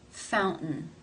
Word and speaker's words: fountain: T in this word in this word it is followed by a schwa and an n Sound therefore it is pronounced as a stop fountain fountain how do you